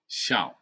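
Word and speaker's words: 笑: Has the same pronunciation with small. Oh, xiao.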